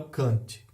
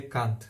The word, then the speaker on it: Kant: O segundo é Immanuel Kant, ou a pronúncia mais correta seria Kant, mas eu acho meio feio falar Kant.